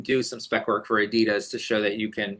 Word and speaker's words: Adidas: Adidas? You know how to say it better than me. I always say Adidas over here, and I know that is the incorrect way to say it.